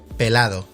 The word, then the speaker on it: pelado: they don't pronounce the ending in Portuguese. They say pelad.